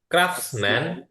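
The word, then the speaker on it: craftsman: ক্রাফটসম্যান, এটা টিটা উচ্চারণ আসবে না। ক্রাফটসম্যান, কারিগর।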